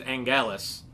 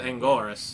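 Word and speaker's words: Anguirus: He says Angelus when it's Angoras.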